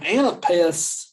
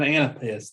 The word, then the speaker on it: anapest: over them all but an anapest there's three syllables on the foot so the anapest is kind of the the the the the dumb that's why that's kind of what an anapest sounds like um oftentimes anapests